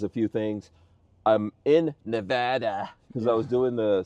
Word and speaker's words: Nevada: do we yeah here we are in Sparks Nevada we're looking at the mod Van's uh brand new headquarters we moved everything out here to beautiful Nevada you got to say it right yeah Nevada